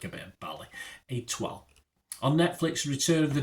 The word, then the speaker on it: Étoile: Étoile, there you go, Étoile, an 8-part comedy drama, and it's about the